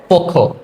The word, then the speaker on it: পক্ষ: ভুল বলি যে বক্ষ তারপর পক্ষ এগুলো আমরা ভুল বলি তাহলে সঠিক উচ্চারণ কি হবে পক্ষ আশা করি বুঝতে পেরেছ